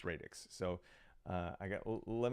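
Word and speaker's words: Radix: radex um I've been told that the proper pronunciation for this word is radx um I I read it as radx for my whole life before I was told that it's radex so uh I got let me know how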